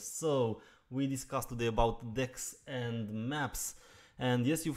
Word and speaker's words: deque: we discuss today about decks and maps and yes you've heard me well is pronounced a deck and not a DQ even though you will